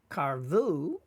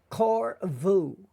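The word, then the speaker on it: קָרְבוּ: the case of karvu, when there is a closed syllable, using the kamats, it is said as an O, almost like a short O, right? If we look here, it's a closed syllable because there's no vowel after the resh. So it's called a closed syllable, and it usually has to be the first. So it is korvu in modern grammar.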